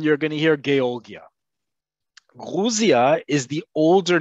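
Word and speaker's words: Грузия: remember britain the ussr guruzia is how you say the country in russian it has to do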